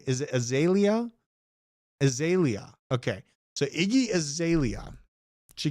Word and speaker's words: Azalea: where I have to figure out how to pronounce Iggy Azalea's name correctly. What is her name? Is it Azalea? Azalea.